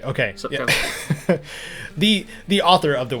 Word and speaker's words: Sapkowski: Sapkowski. Okay. Sapkowski.